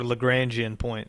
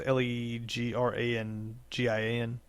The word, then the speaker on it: Lagrangian: Now, that little hump is called a Lagrangian point. Or Lagrangian point, I think is actually that's pronounced, but it's I think it's Legrangian.